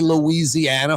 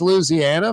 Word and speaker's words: Louisiana: In the city, we say Louisiana, 5 syllables. And in the country, it's Louisiana, 4 syllables.